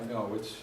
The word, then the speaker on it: Ngo: What do I mean by Ngo? It's the Vietnamese pronunciation of the word Wu, and I'm applying it